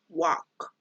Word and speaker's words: walk: as our example hey listen to the pronunciation walk the letter L doesn't sound gross way Mikey escuchen